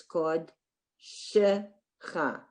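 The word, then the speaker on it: קָדְשְׁךָ: Okay, so the shva is at the beginning of the syllable. It's kod shecha.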